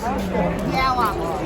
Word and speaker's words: Yowah: How would you pronounce the name of the booth? Yowah.